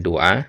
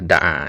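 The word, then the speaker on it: دَعَا: Nah, ini tadi antum bacanya doa, yang benar da'a ya.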